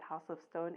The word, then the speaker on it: Haus of Stone: But if you want to find me as a fashion designer, you find me at House of Stone, HAUS, of Stone on all platforms.